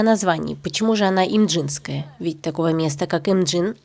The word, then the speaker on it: Имджинская: Официальным термином, используемым в большинстве источников, является имдинская война. Данный вариант произношения является некорректным для современного корейского языка. Вместо звука д в названии фигурирует Ч. Поэтому произносить я буду приближено к оригиналу.